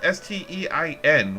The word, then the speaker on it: Stein: that because it's spelled s-t-e-i-n which would think you know everybody would think that they'd automatically pronounce it stein because that's like a beer stein but yeah i've heard